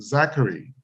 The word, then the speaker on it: Zachary: and I mean, want to make sure I pronounce his name, Zachary.